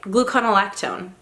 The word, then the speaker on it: gluconolactone: Gluconolactone. No, I said it right. I said it right. Gluconolactone.